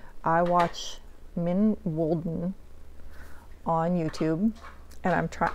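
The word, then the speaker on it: Mijn Wolden: if I remember correctly the way you pronounce her YouTube name is min Walen and anyway I will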